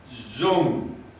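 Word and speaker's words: Dung: and say oh but in vietnamese it's pronounced zoom zulu uniform november golf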